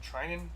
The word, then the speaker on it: Treinen: Is it Treinen?